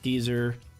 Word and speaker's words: Geyser: Pronounced Geyser. If you're me, Geyser, if you know what they even are, and Goozer if you're Canadian.